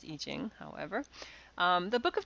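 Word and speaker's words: I Ching: n g but i c i n it's pronounced eing however um the book of changes consists of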